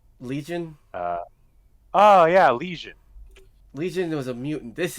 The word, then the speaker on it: Legion: He said lesion, as in an infection. Lesion, not legion.